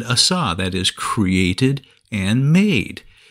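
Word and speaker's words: עָשָׂה: brand new whereas the word for made is pronounced Assa and means not new but remade or made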